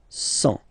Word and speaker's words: cent: Remember, final T not pronounced. 100.